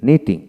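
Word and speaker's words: knitting: টি night তারপর হচ্ছে নব নব তারপরে নিং নিটিং কে এন I double T এন জি নিটিং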